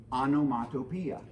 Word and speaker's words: onomatopoeia: a thing is use an onomatopoeia sometimes pronounced anomatopia and onomatopoeia is a